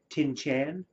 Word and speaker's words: Tintian: I always wanted to pronounce it when I was reading it Tinchan, as if it was almost an Asian surname.